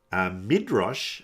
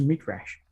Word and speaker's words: midrash: question for the day midrash about this man tells that the leviathan fled from him upon realizing that this man was circumcised who is this man what's a mid-rash it's actually pronounced midrash right i guess if you